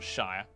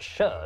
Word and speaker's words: shire: sheer sheriff sheriff and for our American viewers it's pronounced sheer not Shire actually it's pronounced sure not sheer plebs over the centuries